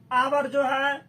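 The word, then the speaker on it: hour: आवर जो है इसका उच्चारण ही वॉवेल से शुरू होता है, इसमें एच साइलेंट है।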